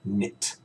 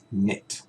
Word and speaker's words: knit: is MIT all right we do not pronounce the K so it's not commit right it's we don't pronounce the cape and we use in so it's knit okay knit the next one is